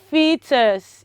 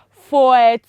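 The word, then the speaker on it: foetus: e t u s how do you pronounce that it is fetus it is what fetus it is not foreign it is so wrong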